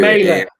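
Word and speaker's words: Mæhle: And then my other guy who I've got in is Joachim Mel, who Mailer. This is how you say it.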